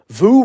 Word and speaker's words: VOO: VOO rhymes with poo.